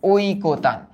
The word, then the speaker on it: ঐকতান: এই ওইটাকে ভাঙালে আমরা পাবো ও ই, ও ই। দ্যাট মিনস ও ই কো, ঐকো, তারপর কি? তান, ঐকতান।